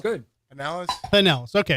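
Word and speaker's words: Pinellas: At least you didn't say pineellis. No. No. Why people say pineellis? Yes, they do. Yeah. Well, some up there we have things called pine trees. I don't think that's true. That's true. But it's not I mean it's not Pineellis.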